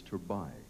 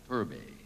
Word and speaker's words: Turbay: It's Turbay. Turbay. Well, I had it right the first time. I shouldn't have tried. In English, in Spanish, it's Turbay.